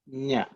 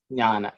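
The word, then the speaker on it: ज्ञ: But actually it should be pronounced ij, nya, nya, nya. Okay, nya. It is one of the most mispronounced consonant, compound consonant in Sanskrit language, because many people use g, n.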